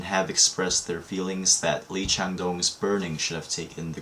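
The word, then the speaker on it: 이창동: So just for newcomers, I'm going to briefly talk about the filmmaker, Lee Chang-dong, that is the Korean pronunciation.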